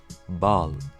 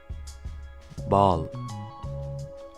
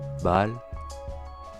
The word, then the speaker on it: bal: Allez, on commence par la première voyelle qui est le A et qui se prononce comme un A mais plus ouvert que celui en français.